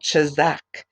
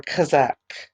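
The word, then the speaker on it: chazak: you're gonna hear it it's called Chizik and actually it is spelled ste h a Z a K and it means be strong or Kazak okay Kazak be strong chapter one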